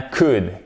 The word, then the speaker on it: could: Évidemment, c'est un ou court. C'est pas we could et on ne prononce pas le L.